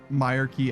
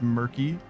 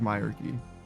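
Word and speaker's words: Myreque: it like a pun somebody says I pronounced Myer key as murky based yeah it seems like seems like the consensus is my key which in some ways some ways makes sense cuz it's like a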